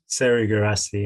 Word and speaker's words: Serhou Guirassy: How am I pronouncing this player's name? I'm gonna butcher him. I'm gonna go for Serhou Guirassy. Serhou Guirassy, yeah. Serhou Guirassy. That's right.